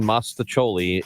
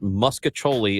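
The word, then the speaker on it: mostaccioli: a text message says, I'm pretty sure that mispronouncing Mostacholi is going to flop like Virginia. That is in the bracket. Pronouncing it Muscatoli is the 12th seed versus Oppressive Humidity, the 5 seed.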